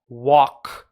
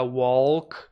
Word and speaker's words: walk: A man with a big rucksack on his back walks between Pam and Martin. Ele caminha, este homem, o verbo caminhar, walk, que não pronuncia o L, não diga walk, corta o L, walk.